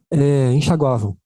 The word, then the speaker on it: enxaguavam: Você não fala ei, enxaguavam. Você fala ei, enxaguavam? Ei, enxaguavam. Você não tem um i ali. Ali é en, ó, enxaguavam. Tá vendo? Não é em i, é enxaguavam.